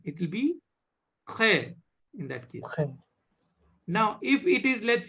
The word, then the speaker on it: très: Très. Très. Her. Très. So, whenever you have this T or D or P followed by R, means direct after consonant, directly if the R is there, R sound is